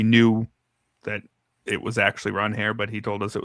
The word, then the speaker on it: Ranger: Ron Hair, yeah. I mean a G is a H sound in Spanish, but he just let everybody call him Ranger for his whole time in Philly and then